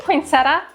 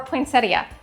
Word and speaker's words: poinsettia: say poinsettia or a poinsettia? because I looked it up because I knew people would correct me one way or the other. And I found dictionary after dictionary that would pronounce it both ways.